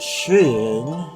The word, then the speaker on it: skiing: how-to which is called the art of skiing pronounced sheen that's what the narrator says yes but this one